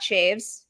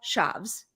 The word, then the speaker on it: Chaves: It is not Shaves. It is not Chavez. It's Michael Shavs.